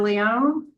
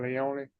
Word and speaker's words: Leone: Leon. Good morning. Could you introduce yourself? Tell us your name and doc number, sir. My name is Leone. Doc number 612243. Leone, I'm sorry, I mispronounced it.